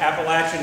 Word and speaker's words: Appalachian: In the middle of the Appalachian Mountains, and they were real clear to me that I was to pronounce it Appalachian when I got here to tell y'all how to pronounce it right.